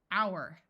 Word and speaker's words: hour: can add suffixes honestly this o U is going to say ow hour hourly herb note that in